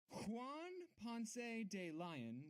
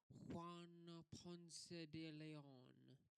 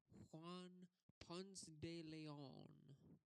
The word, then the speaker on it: Juan Ponce de León: Yeah, it's uh more like Juan Ponce de León. Yeah, you hear me? Juan Ponce de León. That's how you pronounce it.